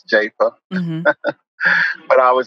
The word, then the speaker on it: Jafa: always my grandfather's name people often pronounce it as Arthur Jaffa and it's not Jaffa it's japa but I would say